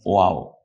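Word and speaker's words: واو: ওয়া, আবারও মনে করিয়ে দিচ্ছি, হরফের নাম হলো ওয়াও, উচ্চারণ হলো ও আ ও, ওয়াও, এভাবে আমরা লিখেছি।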